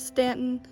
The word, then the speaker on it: Staunton: 14 and you can come out to the Stanton River yes it's Stanton the reason I know that is because in